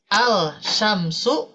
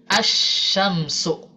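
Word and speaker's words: الشمس: Yang tadinya contohnya di sini Ibu Bapak ya, al-syamsu. Nah, ketika bertemu dengan huruf shim, maka wajib diidghamkan. Jadi asyamsu ya. Meskipun secara tulisan masih ada huruf lamnya, tapi secara bacaan itu dihilangkan ya.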